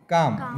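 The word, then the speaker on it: calm: L silent आहे इथं सी ए एल एम काम इथं पण एल सायलेंट आहे आलं लक्षात डब्ल्यू ए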